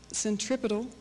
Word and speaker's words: centripetal: centripedal and the centrifugal the proper pronunciation of those words if you're scientific is centripetal and centrifugal but for the sake of U hearing I'm going to distinctly pronounce them centripedal and centrifugal so bear with me